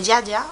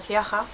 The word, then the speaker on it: Ziaja: Y bueno, este Hablemos Day va sobre la crema con tono de ojo de Yaya o Ciaja, yo voy a decir Ciaja porque es como se escribe y ya está.